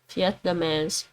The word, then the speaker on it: Vietnamees: They would pronounce that as more of an F. Vietnamese.